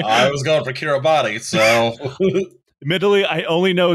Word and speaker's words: Kiribati: which I promise you, if you look at how this island nation is spelled, you will not believe it's pronounced that way. I was going for Kiribati, so.